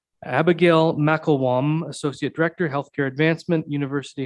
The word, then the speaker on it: McIlquham: That's pronounced Mcilquham. Abigail Mcilquham, Associate Director, Healthcare Advancement, University Hospital Kingston Foundation,